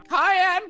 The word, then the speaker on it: Cayenne: Cayenne pronounced like the pepper.